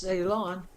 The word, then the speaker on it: Ceylon: I just wild guessed Ceylon. Mm-hmm. I think that's how you pronounce it.